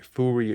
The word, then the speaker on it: Furyu: Furyu, yeah.